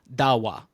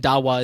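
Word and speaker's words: Dahua: So that technology is quietly entering America through companies like Hikevision and Dawa. And Dawa is spelled D A H UA in case you want to go out and and look it up after this.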